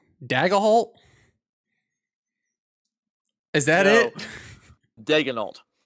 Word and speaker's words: Daigneault: It's how Daigneault. Daigneault. Is that No. it? Daigneault. Daigneault. All right. Daigneault.